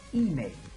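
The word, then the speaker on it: inè: That's ine. The accent is on the first word, the first syllable.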